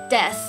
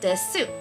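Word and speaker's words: です: So knowing that you devoice the su, you're going to naturally put a stress on the de, so it's des, not desu.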